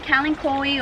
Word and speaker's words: kalanchoe: Some kalanchoe or kalancho, however you like to pronounce it.